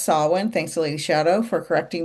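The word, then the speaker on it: Samhain: less known word and it's spelled like Sam Hayne but it's pronounced sawin.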